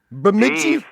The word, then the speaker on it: Bemidji: Bamiji. From Bumiji, Minnesota. Bamiji. Yeah. How do you spell it?